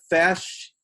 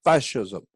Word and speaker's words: fasces: It's a fascist. It's almost spelled like fascist, but it's actually that pole. It's the fasci.